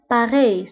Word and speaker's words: pareil: عليهم c'est pas pareil فانتبهوا بالنسبة لباري في آخر الكلمة كنكتبوها بأل ولكن ما كنطقوهاش كنقولو باري سي با باري العبارة الموالية على أي